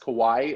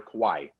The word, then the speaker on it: kawaii: it was pronounced uh it looks like hawaii but it with the k so i think it's pronounced kawaii or kawaii well so we walk